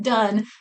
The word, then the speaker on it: Dunne: Um Done. Done. Uh funny little thing. I didn't realize it was pronounced done until the very end of the